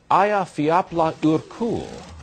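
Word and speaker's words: Eyjafjallajökull: the volcano Aya fapla urul as I'm told it is pronounced has been spewing out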